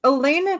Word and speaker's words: Elena: It's Elena because that's how you say it in Italian and then it's Helena in a different language.